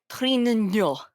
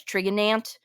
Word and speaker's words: Trintignant: Jean Louis Trintignant.